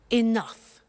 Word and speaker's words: enough: Now, this word enough, it's written E-N-O-U-G-H. The pronunciation is enough.